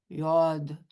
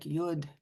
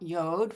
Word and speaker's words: yod: Yes, a yod, pronounced in Hebrew more like yod, and in Yiddish like yud. It is not yod, folks.